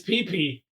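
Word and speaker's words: Pee Pee: Okay, how about PP, Ohio? How's it spelled? P-E-E. Oh, so there's just again no disguising it. It's PP.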